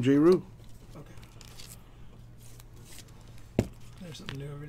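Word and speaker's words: Jrue: got jeru holiday pelicans oh jayru or drew no that's how you pronounce his name jayru okay there's something new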